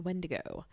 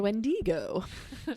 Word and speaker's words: wendigo: had an encounter with a wendigo or a wendigo when to go uh put the emphasis on the wrong syllable there okay so this